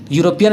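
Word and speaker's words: European: यूरोपियन का spelling है ई यू से, लेकिन आवाज़ निकलता है यू, जिस कारण से यू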